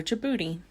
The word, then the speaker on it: Djibouti: D is for Djibouti.